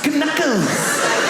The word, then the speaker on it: knuckles: Why would a K be silent? Knickers, why is it Knuckles?